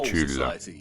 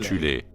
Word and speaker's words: Thulé: Avant la montée du régime national-socialiste, il existait en Allemagne une société secrète occulte appelée la Société de Tulle, parfois prononcée alternativement Thulé, composée de sous-factions en son sein.